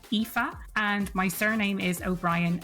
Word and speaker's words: Aoife: I'm sure the link will be in the show notes, but just in case, it's spelled A O I F E. That's EA.